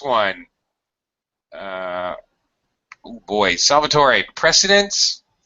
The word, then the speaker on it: precedence: uh oh boy salvator precedence or precedence again with homophones all right president or